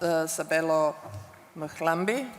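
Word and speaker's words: Sabelo Mhlambi: And now I'm turning to Sabelo Mkhlambi. Did I pronounce it properly?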